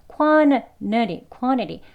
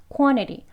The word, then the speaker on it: quantity: 혀 위치가 같기 때문에 소리가 이어져서 발음이 되는 거예요. 그래서 저희 귀에 들리기에는 quantity 더 빨리 발음하게 되면 그냥 이 르 하는 소리가 앞에 니은이랑 같이 연결되어서 quantity 그냥 nutty, quantity라고까지도 들릴 수 있어요.